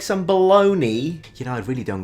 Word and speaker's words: Bologna: I understand that a lot of Italian words finish with N-I and are pronounced ni, like panini, Armani, but there is a G-N-A. How on planet Earth can that be bologna?